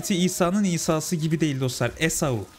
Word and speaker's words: Esau: diyecektim Az önce de İsa deyince de hani haz İsa'nın isası gibi değil dostlar esau Ya da esav da denir ama İngilizce okunuşuyla İngilizce okunuşuyla İsa diye okuyorsunuz e Evet bu arkadaşın